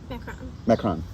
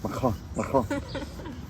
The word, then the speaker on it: macaron: But I really want to bake macarons. What are they called? Macaroons? Macaron. Macaron.